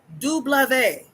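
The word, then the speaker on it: double vé: The letter W in French is pronounced dublave. Dublave. The reason it is pronounced dublave w d blave is because it literally translates to double v's double v's.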